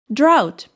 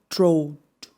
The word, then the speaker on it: drought: It is pronounced like drought, not drought.